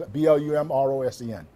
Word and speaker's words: Blumrosen: It's spelled just like it's Blumrosen.